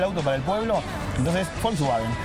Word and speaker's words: Volkswagen: Le pidió un auto para el pueblo, que por eso Volkswagen, que se pronuncia con F, si sí.